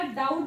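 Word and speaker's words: doubt: की इथं बघा हा आपल्याला ब वाचायचा नसतो त्याला डाऊट वाचावं लागतो जसं इथं हवर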